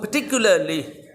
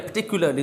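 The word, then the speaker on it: particularly: The condition of the children, जितने भी बच्चे थे उनकी जो हालत थी वो पर्टिकुलरली या पर्टिकुलरली, दोनों प्रोनाउंसिएशन ठीक हैं, पिटिएबल, काबिल रहम थी, ठीक है।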